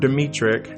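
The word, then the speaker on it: Dmytryk: is the RKO director Edward demetric I think that's how you say his last name it's spelled d-m-y-t-r-y-k so I hope that's right and producer Adrian Scott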